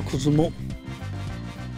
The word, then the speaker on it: 車尾: も車尾これはこずもそうなんです車にをと書いて 9 ずうもと読むんです米子市